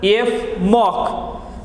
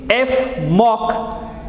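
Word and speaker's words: Fmoc: fluoroneal methyloxy carbonyl is in short known as f mock you can pronounce this f mock in short so this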